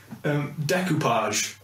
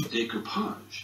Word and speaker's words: decoupage: That's not how you pronounce it. No. You fucking idiot. Decoupage. Nope. Decoupage.